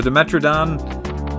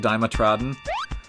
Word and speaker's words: Dimetrodon: a cool name again I didn't know how to pronounce it as a kid so I called it diamond trodden is that like how